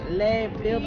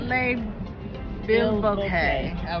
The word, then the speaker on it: Le Bilboquet: The parking attendant had to add Le Bilboquet. Yeah, Le Bilboquet.